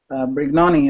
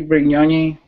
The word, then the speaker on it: Brignoni: say your last name brig money i say regularly it's supposed to be pretty on yay but yeah there's not like a ninny on it but i guess